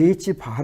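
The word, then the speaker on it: ħ: 우리 는 이것 을 H-bar 라고 읽으며 , H-bar 는 H 를 2π 로 나눈 값 입니다 .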